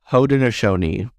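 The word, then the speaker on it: Haudenosaunee: looked at the pronunciation for this word it's pronounced hodenoshoni so I butchered that but I appreciate you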